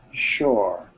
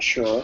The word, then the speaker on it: shore: Shore, not sure. Shore. Shore. Shore. Shore. You're saying sure. It's a different word. Okay, floor. Shore. Floor. Okay, it's the same sound at the end.